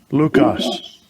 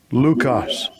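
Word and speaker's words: λύκος: that word wolf all right g3074 and it's pronounced strong's g 3074 lucas lucas lucas all right and it means of cruel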